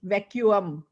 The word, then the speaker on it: vacuum: VACUUM और pronunciation है वैक्यूम, वैक्यूम, okay, यूम, वैक्यूम, वैक्यूम।